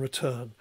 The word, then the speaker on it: return: So written has a stress, an emphasis on the first syllable, whereas return has an emphasis or stress on the second syllable.